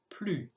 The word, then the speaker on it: plus: Have a look at the third word, plus. The silent letter is the S because you cannot hear it.